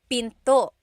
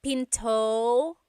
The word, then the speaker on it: pinto: door in Tagalog is pinto pinto and remember don't forget the glottle stop don't forget to stop the sound at the end that's called a glottle stop pinto pinto it's not pinto to it's pinto.